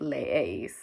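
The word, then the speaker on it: leéis: e r and we add e with an accent i that's pronounced leis that's always the trickiest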